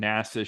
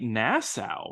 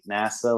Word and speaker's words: NASA: get a guy from NASA shows up and they pronounce it like Nassau right right that's how